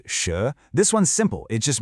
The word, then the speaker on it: 蛇: Next up we have sh pronounced sh.